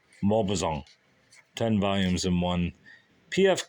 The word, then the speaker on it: Maupassant: I don't know how you say Malpazan. I'll say Malpazan. Guy Malpazan. Guy Malpazan. I'll just say Guy Malpazan. Don't know how you say his name. It's got to be Guy, right? Or is it Guy? Guy de Malpazan. Maupassant.